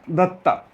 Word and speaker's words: Dutt: इनका ओरिजिनल नाम तरुलत्ता दत्ता हम लोग ये बंगाली प्रोनाउंसिएशन अगर होता हम लोगों का प्रोनाउंसिएशन अगर बंगाली में होता तो हो जाता तरुलत्ता दत्त ऐसा। उसी का शॉर्ट में नाम है तो दत्त।